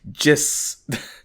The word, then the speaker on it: JISS: And it's pronounced JIS.